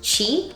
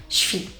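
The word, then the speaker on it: Twi: Their main language, I would say, was Chi, which that's not even how you say it. They would always make fun of me with the way I pronounce it. I think it's pronounced Shri. It's like this sound that I can't make. But it's like Chi, but it's T-W-I, Chi.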